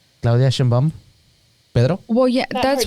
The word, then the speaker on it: Sheinbaum: And you pronounce it Sheinbaum, just like it's written, because it's Mexican.